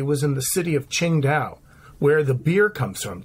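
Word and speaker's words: Qingdao: his orchestra specifically was in the city of Ching da where the beer comes from Singa beer yeah comes from the city of Ching da is the way they pronounce it and it's one of the most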